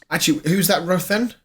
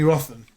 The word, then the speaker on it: Rothen: I do remember Jeremy Rothen. Roten. I think it was how you pronounce it.